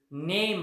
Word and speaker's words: knee: नी स्पेलिंग पाहायचं नाही, उच्चार. तुम्ही म्हणाल की नी तर के पासून सुरू होताना, सर नाही, उच्चार महत्वाचा आहे. नी, KNEE.